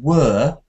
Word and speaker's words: were: i said to igor that you were reading the word were w-e-r-e just like it were where uh so where were can you try to say where were you where were you yes